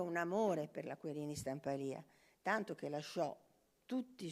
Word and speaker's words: Stampalia: del Botta alla Querini Stampalia. Vabbè, siamo onesti, tra Carlo Scarpa e la Querini Stampalia, impariamo l'accento perché tutti dicono Stampal e invece no, è Stampalia.